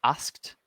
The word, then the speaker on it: asked: The D on the end of words like asked, we pronounce that like a T.